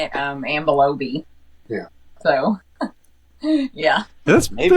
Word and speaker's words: Ambilobe: Yeah, and I've been saying Laube, right? No. Big mistake. You say it correctly. Say it correctly. Ambilobe.